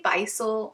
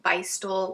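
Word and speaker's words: Bissell: i have this visual do you guys say buy soul bystol let me know i've heard people say it a few different ways i'm going to be pronouncing it as bisol this glow ghost which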